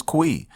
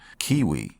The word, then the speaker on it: Cui: and his name is cui some people call him cui some people call them cui cui and others call him Kiwi which he is his name and how you pronounce it in the manga but yes he was